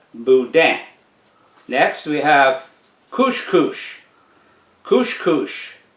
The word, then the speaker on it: boudin: bisque next we have boudin it is not boudin it is boudin and the n is silent boudin next we have cushkush